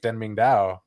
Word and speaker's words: Deng Ming-Dao: this book, because the author of this book, Deng Ming-Dao, that's how you say his name.